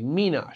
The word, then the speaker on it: Minas: grapes for this wine menace or mean us however we want to pronounce it not sure which way is correct well google translates as menos but or sorry google translate says the first way but in their video their head wine maker zay luis pronounces it the second way menos so i'm trying to stick with that pronunciation google translate translates or